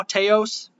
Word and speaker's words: Taos: taos is that how i print did i pronounce it right now teos yeah teos okay teos no uh new mexico